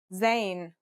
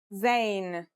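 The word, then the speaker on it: ز: In terms of pronunciation, you say it just like the English z as in zebra or el jazer. Practice saying el jazer if you want to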